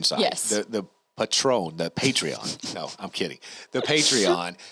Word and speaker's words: Patreon: you pronounce this um it's patreon and the people that are there are patrons okay so yeah because